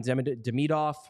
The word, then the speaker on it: Demidov: Ivan Demidov, because you got to do the second pronunciation, the second syllable pronunciation.